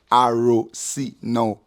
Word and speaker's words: Arosino: That is Arozino, happiness. If you want me to spell it out for you, A to the R to the O to the SINO, Arosino.